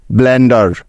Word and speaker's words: blender: তারপরে ই আছে, যার জন্য এখানে নিতে হবে আকার, যেহেতু ই এরপরে আর আছে, কারণ এটাই হলো নিয়ম। এবং সবার শেষে আর আছে, সেজন্য নিয়ে নিব র। ব্যাস, DER মিলে হয়ে গেল ডার।